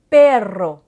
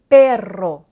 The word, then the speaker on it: perro: Par exemple, si vous prononcez perro, perro, en faisant rouler votre R un petit peu plus longtemps, ça veut dire un chien.